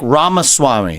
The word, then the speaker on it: Ramaswamy: Yeah, it's like Ramaswamy, like CD-ROM, but yeah.